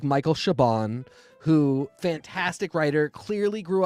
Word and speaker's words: Chabon: shabon really oh yeah I've always said chabon like somebody's trying to have trouble pronouncing chabani I I hope it is shabon and I hope I